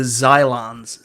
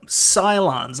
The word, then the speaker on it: Cylons: Galactica guy with the Xylons. Xylons. Oh, Cylons. I gotta say it correctly, or everybody else will eviscerate me in the comments because I forgot that it's Xylons and Cylons instead of Xylons.